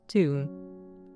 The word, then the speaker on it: Thumb: Thumb. Cacosis bacillium. Pronounced tomb. Tomb.